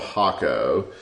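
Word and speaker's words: Jacó: in this area called hako but it starts with a J there it's pronounced differently it's j so y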